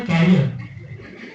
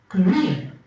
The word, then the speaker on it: career: actually worried about his career the stress of the second syllable and it is career yeah and the next